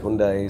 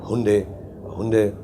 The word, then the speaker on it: Hyundai: Some people say it Hyundai, some say it Hyundai. And so we have different pronunciations for it.